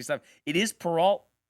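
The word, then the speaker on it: Peralta: It is Peralt. It is Peralt. I don't know why I keep saying Perau because it just it sounds like you know French.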